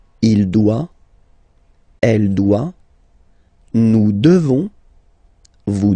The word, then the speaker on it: devons: Nous devons. Okay? Classic ending ONS for nous. Okay? You just pronounce this on, on, this nasal. Okay? And then the S, final S is not pronounced.